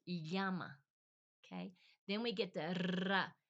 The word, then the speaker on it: llama: So if you can get that sound going yama, you know the llama. L l a m a in English, we pronounce it llama usually, right? But with them, same same word. Same word exactly, but it's yama.